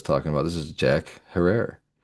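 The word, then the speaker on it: Herer: This is Jack Herrer. yeah. I love me some Herror. Like Jack terror. It rhymes with terror, folks.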